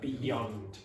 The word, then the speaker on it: beyond: you pronounce that Beyond don't pronounce that y so it's not beyond beyond beyond beyond you could hear Beyond y y Beyond replace that Y sound with I if you're a Spanish speaker so you get beyond yond beyond beyond means further so